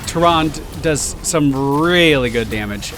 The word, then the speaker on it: Tyrande: Tyrande.